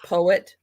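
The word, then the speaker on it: Poët: It's spelled like poet, but they call it more like poet.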